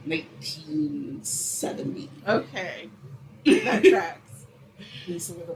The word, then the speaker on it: Liysa: And Lisa is spelled Liysa.